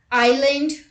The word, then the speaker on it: island: look at the rule s is not pronounced before l in the following words let's look at the examples island isle oil and eyelet